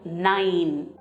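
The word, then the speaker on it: nein: So, it's pronounced as nine, just like your English nine.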